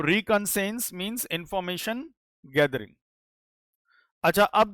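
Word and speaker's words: reconnaissance: ए एन सी ई तो इसको आप प्रोनाउंस ऐसे कर सकते हैं रिकसेंस। तो रिकंसेंस बोलते हैं इसको हम लोग। ठीक है? यहां पर एआई थोड़ा साइलेंट हो जाता है।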